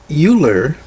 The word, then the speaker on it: Euler: So with that, let's go on to analyzing arguments with Euler diagrams. Now, I would have pronounced that Euler, but I've heard others Euler. I guess it's a German way of pronouncing that.